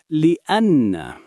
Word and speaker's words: لأن: We say لأن. لأن. Breakdown. Li means for. Anna means that. So together means because.